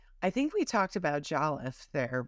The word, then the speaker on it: Jollof: each culture within Africa so proud of their Jolliffe, right? Like I Well, pronounced it yes.